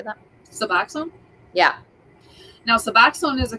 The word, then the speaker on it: Suboxone: Suboxone.